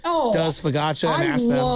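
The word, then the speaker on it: focaccia: It's pronounced fakatcha.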